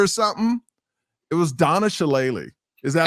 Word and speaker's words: Shalala: It was Donna Shalala.